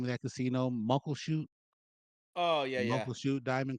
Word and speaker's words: Muckleshoot: Muckleshoot, Oh yeah, yeah.